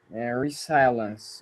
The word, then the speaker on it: resilience: It's pronounced resilience. Resilience. Resilience. I resilience or something like that. And look at it's a very common word. It was in 1,286 articles last year. Now, one thing about pronouncing this word, I don't know if you've ever noticed this, Raison, but when you have the letter S and it has a vowel before it and a vowel after it, it sounds a